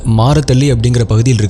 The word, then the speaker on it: Marathahalli: It was April 23, 2025, In Bangalore's Marathahalli which is pronounced as Marathalli, In a luxurious house,